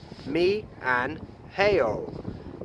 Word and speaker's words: 미안해요: The M at the beginning more sounds like an MB or a B. I can't do it.